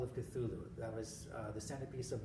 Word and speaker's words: Cthulhu: There's something out there, something horrible that really can't be pronounced by human tongues, but it's spelled Cthulhu.